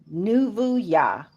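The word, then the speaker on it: נבואה: For some of you that may know and may not know, the word for prophecy is Nuvuya, and it is spelled Nuvuah, I believe.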